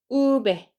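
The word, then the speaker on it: uve: 우 이렇게 됩니다 그다음에는 우배 우배 우에 강세 주시고 얘는 어 영어에서는 이렇게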